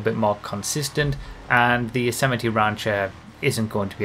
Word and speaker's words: Yosemite: you know and that is how you say yosemite by the way people still seem to not